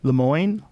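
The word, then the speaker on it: Lemoine: Lemoyne.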